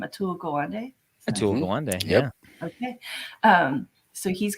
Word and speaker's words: Atul Gawande: we really like uh um ryan help me pronounce his name atul gawande yeah okay um so he's got several books